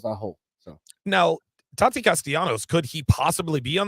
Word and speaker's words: Castellanos: Is it Castellanos or Castellano? Castellanos with the S at the end.